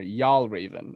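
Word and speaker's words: Fjällräven: Is it Fajal Raven? And he's like, say it like a Southerner, Y'all Raven.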